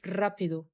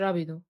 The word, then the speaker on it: rápido: آمم حرف الR بيتنطق بنstress عليه شوية، بنقول rápido مش rápido.